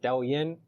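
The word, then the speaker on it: Douyin: Um, if you get uh this Chinese app, uh, I don't speak Chinese, but I think it's pronounced D Yin.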